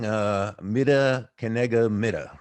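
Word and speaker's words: מידה כנגד מידה: Yeah, we have a saying, "Mida kenega mida," right? Is that how you pronounce it?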